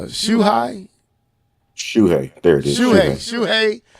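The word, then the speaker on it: Shuhei: first name uh shuai shui there it is shui y CA has commented on when his uh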